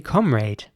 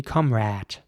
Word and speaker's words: comrade: And the British way of saying this word would be comrade, with an A sound for once. Comrade. And the American way of saying this would be comrade.